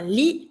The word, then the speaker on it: lit: Une table, une chaise, un lit, don't pronounce the T, une lampe, une télévision,